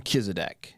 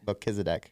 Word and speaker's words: Melchizedek: And I call him Kizedek. Melchizedek. So I think you can go either way. Said it wrong. Yeah. Either way is fine.